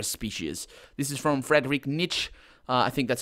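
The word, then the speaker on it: Nietzsche: a very rare species this is from Fredick Niche I think that's how it's pronounced that name which is a pH which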